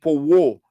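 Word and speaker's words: powwow: Then powo. P-O-W-W-O-W. That's how it is spelled.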